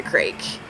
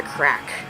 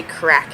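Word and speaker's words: craic: her, like, what's the crake? Crake? That's how Alex pronounces it, but apparently it's actually what's the crack. And they say crack in Ireland, but it's C-R-A-I-C.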